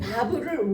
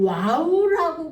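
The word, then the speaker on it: וָו: 근데 이제 우리는 지금 요거를요 바부를 와우라고 부르기도 하거든요. 이게 독일식 발음 와우고 영국식 발음은 바부예요.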